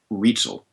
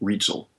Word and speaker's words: Rietzl: erro in the chat is saying that it's pronounced reel sorry Paul sorry Paul if I mispronounced it as well all right it's apparently reel all right good I hope he knows the